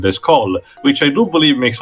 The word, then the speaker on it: Descole: to the prequel series, Descore instead is pronounced similar to the first name with its French pronunciation, Descol, which I do believe makes a bit more sense.